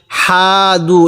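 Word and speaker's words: هَادُوا: আমানু ওয়াল্লাযীনা হাদু, হাদু এরকম করে পড়ে নেই, হাটা উচ্চারণের সময় মুখ দিয়ে একটু আওয়াজ বের করছি।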